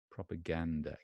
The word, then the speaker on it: propaganda: again propaganda propaganda okay so propaganda the stress is on the first server first syllable propping and the is unstressed there's an upside down II proper proper propaganda gander ah gander gander